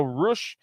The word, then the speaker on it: Rush: making their trio's debut it will be the butcher the blade and roosh so roosh comes out also spelled rush but pronounced rush